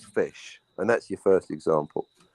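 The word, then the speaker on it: ghoti: the beginning okay right spell the word rough are you fff no no we're talking about you're the one that criticizes tone like for doing his own no you all spell rough the weight spell in english my good ledeo r-o-u-g-h therefore g-h is foot right okay so basically g-h-o-t-i spells fish and that's your first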